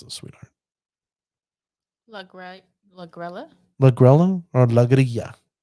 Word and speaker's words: Lagrella: Lagrella? Lagrella or Lagria? I'm going to go with Lagria because in Spanish, 2 L's is a Y.